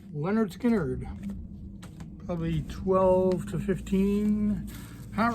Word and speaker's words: Lynyrd Skynyrd: somewhere around the tenmark the Lynyrd Skynyrd pronounced Leonard Skynyrd probably 12 to 15